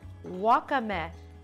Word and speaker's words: wakame: And this is part of the traditional Japanese breakfast, that's a wakame. Am I saying it right? Wakame.